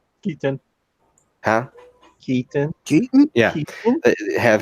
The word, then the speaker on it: Keaton: I always say his last name wrong. Keaton.